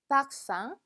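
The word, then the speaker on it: parfum: 다음엔 향수 라는 단어입니다 굉장히 많이 봤는데 불어로는 이렇게 발음 하네요 빡 싸 빡 쌍 얘는 마찬가지로 1m 이기 때문에 암처럼 발음이다 그래서 여기까지 끊어 보면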